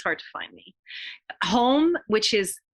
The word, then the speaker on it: HOM: Home, which is H for Helene, or Health, Healing, and Happiness, H-O-M, or just H-O-M. Om should be easy enough. So it's pronounced home.